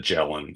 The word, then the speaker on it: Ghislaine: the Maxwell story, uh Galain Maxwell, am I saying her name right now? Galain, is that how you say it? clean. That's how it's commonly spoken, though. Some people say she calls it Jellen.